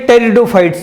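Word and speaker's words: Pteridophytes: पहली जहां seed absent है वो कैटेगरी है टेरिडोफाइट्स की, पी साइलेंट होता है, टेरिडोफाइट्स है।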